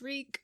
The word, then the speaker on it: Reek: My name is Reek. It rhymes with freak."